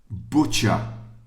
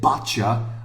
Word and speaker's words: butcher: say this sentence so the correct pronunciation is I always get my meat from the butcher the butcher yeah oh okay no no if you said Bater I will not accept it it's not buta okay the butcher I